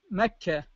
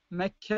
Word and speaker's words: مكة: مثال توضيحي مثل مكة، مكة المكرمة، مكة المكرمة. فإذا وقفت على كلمة، على كل كلمة ستجدها هاء، مكة مكة، هنا تلفظ هاء، لأن تلفظ هاء في